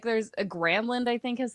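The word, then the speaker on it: Granlund: gronland gronland and so Doc is like gronland and everyone's like what are you talking about and he's like look I asked him and then they went to granin and he's like don't ah don't even bother with that just call me granin oh man he's know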